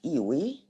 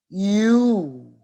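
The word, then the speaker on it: ewe: No, it's not Iwi. And it's not Huey. No, that's wrong. Here is the correct pronunciation. And you will find this in the dictionary. The correct pronunciation is you, which means a female sheep, naga.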